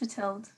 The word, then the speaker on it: Matilde: Is it Matilda or Matilde? It's just Matilde, but Matilda's fine.